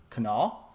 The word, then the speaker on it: Kanawha: And for those of you that didn't live in West Virginia and don't know how this word is pronounced, it is pronounced Kanawha, not Kanawha.